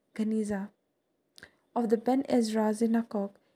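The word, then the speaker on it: Geniza: In 1896, a huge collection of medieval Jewish documents was discovered in a sealed room, Janiza, pronounced Ganiza, of the Ben Ezra synagogue in Fustat.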